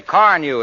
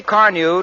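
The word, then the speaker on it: Carnu: When people ask me how I do it, I say car new is the answer.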